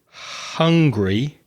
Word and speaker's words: hungry: The h at the beginning of the word sometimes gets dropped and not pronounced. So, when you said hungry, it sounded like angry.